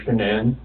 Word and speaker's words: Shanann: And I don't want to pronounce her name wrong, Shanann.